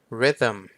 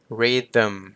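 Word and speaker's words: rhythm: ถัด มา rym rythm ตัว th ตัว นี้ จะ เป็น เสียง ที่ ก้อง นะ ครับ ผม เพราะ ฉะนั้น มัน จะ คล้าย ๆ กับ เวลา ที่ เรา ออก เสียง เหมือน ด เด็ก ใน ความ รู้ สึก ของ ผม นะ ผม ก็ เลย แทน มัน ด้วย ตัว D เก นะ ครับ ผม rym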